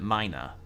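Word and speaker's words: Mynah: it Mina is it is it pronounced Mina like it would be with an i or is it minor you can use a auto injectors to restore large amounts of HP and silly it's the latter okay wait can I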